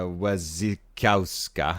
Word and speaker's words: Wasikowska: Did Mia Wasikowska? That's exactly how you pronounce it.